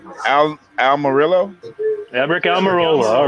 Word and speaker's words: Almirola: I think it's pronounced Eric Almirola.